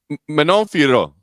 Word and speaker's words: Manon Fiorot: Manon Fiorot. Fiorot. I believe, but it's less harsh than that because it's very soft and subtle and French.